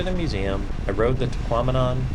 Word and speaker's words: Tahquamenon: After the museum, I rode the Tahquamenon, which I've been told rhymes with phenomenon, Scenic Byway.